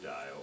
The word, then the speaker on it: Dial: name is dial or LA in do just like Florida and dial dia just like the silk okay how are you